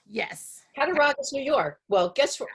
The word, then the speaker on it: Cattaraugus: So you lived in a place, I'm not sure how to pronounce it. Is it Cattaraugus? Yes. Cattaraugus, New York.